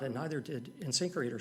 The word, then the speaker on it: InSinkErator: InSinkErator.